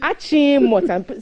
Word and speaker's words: Achimota: So it's Achimota. So perhaps your old school should take it up and insist that we actually pronounce the name of the town the way